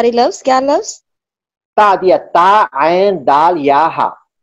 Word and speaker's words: تعدیہ: بالسکینی بالسیوفی، یہ با تعدیہ کے معنی میں آتا ہے، یعنی تجاوز کرنا اس کے ذریعے.